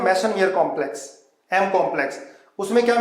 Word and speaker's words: Meisenheimer: देखो एक बार ध्यान से, ठीक है, ये कार्बन आयन बोल दिया, इसको बोलते हैं बेटा मेसनमियर कॉम्प्लेक्स।